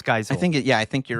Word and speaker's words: Geisel: made this one, and Audrey, and I might mispronounce her name, Geisel, thank you. I think it's Geisel.